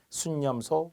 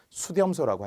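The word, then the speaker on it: 숫염소: 순양, 순념소, 수지. 발음도 순념소예요. 수렴소라고 하지 않습니다.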